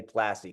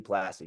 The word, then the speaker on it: Plasse: was like I was plaz am I going French with it like what's I love that it is technically French Canadian but we say plassy classy plassy you know dig it